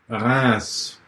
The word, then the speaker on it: Reims: Reims.